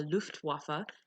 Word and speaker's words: Luftwaffe: Force which was called in German the Luftwaffe I'm not making that up that's actually how you say it and they're mainly